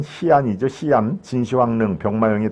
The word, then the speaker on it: 시안: 예, 서안이라고 쓰고 중국식 발음은 시안이죠.